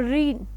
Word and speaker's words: reign: During the reign, R-E-I-G-N. So G is silent.